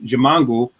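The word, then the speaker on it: Ximango: delicious is jiongu and that's spelled uh x i m an G jangu and this is a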